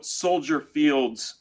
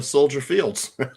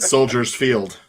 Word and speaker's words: Soldier Field: yeah it is soier you don't pronounce the S it's like Illinois yeah sty stupid the meatball fans always said Soldiers Field let's put the little